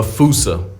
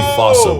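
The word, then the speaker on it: fossa: to lemurs everywhere the fusa although with its spelling I'm pretty sure it's actually fossil but the day I pronounce it like that is the day I lay my childhood to rest the foosa is pretty much a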